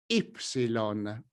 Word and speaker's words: ipsilon: When the letter you see on the screen is by itself, it can be pronounced in different ways: i-greca or: i greco, or, better yet, in scientific fields ipsilon.